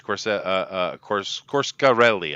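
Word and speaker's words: Coscarelli: It is Corscarelli, I think is how he pronounces it.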